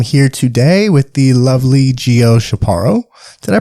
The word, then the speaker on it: Gio Chaparro: and I am here today with the lovely Geo shaparo did I pronounce it right yeah Geo she's our podcast